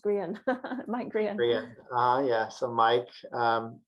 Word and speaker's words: Grehan: It's Grehan. It's pronounced Grehan.